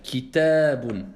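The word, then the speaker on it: كتاب: Faites très attention ici à la prolongation alif. Kitabun. C'est pas kitabun.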